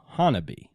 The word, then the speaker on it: Honobia: Now, it is spelled Honobia, but it is pronounced Honobia.